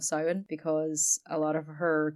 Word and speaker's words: Samhain: can we all please applaud Emily for her correct pronunciation of Simon because a lot of